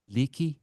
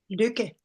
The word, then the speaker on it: Lykke: Um, and your middle name, if I can pronounce it right, Liicki. Luki.